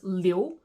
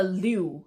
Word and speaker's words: Li: not dong not song another name that's not quite intuitive is Li as in Lucy Li that's not a li it's Li but when you switch it